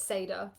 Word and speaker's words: Sayeeda: your name yeah you know I I would pronounce it Sada my dad would have said say or you